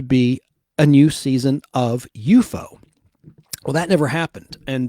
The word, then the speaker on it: UFO: unidentified flying object, letters UFO, but it's pronounced in the show UFO, like an enemy or a foe, like F-O-E would be how you spell the word foe.